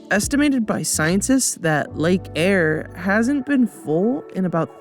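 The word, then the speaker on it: Eyre: all of australia lake air spelled air but pronounced air you get the point this thing is 50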